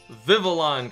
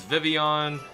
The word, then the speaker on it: Vivillon: it the show says vivillon technically it's based off of a like a French butterfly that's supposed to be pronounced like that so whatever I should probably start saying vivillon but either way we're